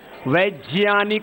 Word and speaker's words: वैज्ञानिक: उधर साउथ में वैज्ञानिक और इधर हमारे कुछ लोग आप क्या कहते हैं? वैज्ञानिक। अब उल्टा पुल्टा बोलते रहते हैं। वैसे सही प्रोनाउंसिएशन क्या है? वैज्ञानिक हो।